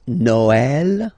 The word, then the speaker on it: Noël: that in some cases you will have to pronounce it like eh. Okay, like for instance Noël.